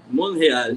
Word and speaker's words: Montréal: Montréal, esse Montréal. Eu sempre esqueço que o T é mudo.